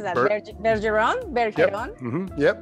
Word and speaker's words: Bergeron: How do you pronounce that? Bergeron? Bergeron? Yep. Mm-hmm. Yep, Bergeron. Yep. In Spanish, it's Julia Bergeron. Oh, okay. Bergeron.